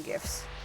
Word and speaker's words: GIF: them and they're called GIFs. I'm like, yeah, it's not called graphic. It's graphic. It's a hard G.